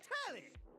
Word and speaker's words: Telly: The name's Tally. rhymes with Nelly. Like, whoa, Nelly.